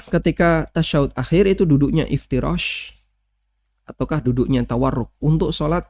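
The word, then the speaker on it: افتراش: Mohon bacanya bukan iftirasi ya. Iftirash, bukan iftirasi. Karena dan itu banyak saya dengar teman-teman yang sudah ngaji lalu dia bacanya iftirasi.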